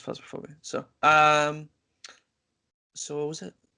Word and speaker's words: Phasmophobia: No, it rhymes with phasmophobia. Well, actually, it's phasmophobia.